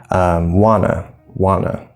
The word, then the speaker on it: wanna: We spell it with an A if we write that, but wanna.